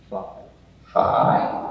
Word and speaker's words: phi: Phi. Or phi, depending on how you want to do that one.